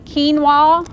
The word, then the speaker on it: quinoa: So, our grain today is going to be quinoa. Some of y'all probably don't even know how to pronounce that before. It's got the qu ui n o. That's quinoa.